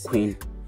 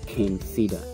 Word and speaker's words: King Cedar: if you pronounce it queen you are wrong the name is ken cedar and the spelling is